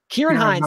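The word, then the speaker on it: Ciarán Hinds: The Belfast Boys, Jamie Dornan and, Kieran Hines. Kieran Hines, thank you.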